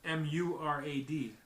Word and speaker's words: Murad: how you pronounce that? Murad. Mircea. No, it's Murad. Mircea.